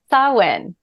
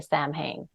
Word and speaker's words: Samhain: day probably going to type but yeah so sawin I would love to talk about sawin because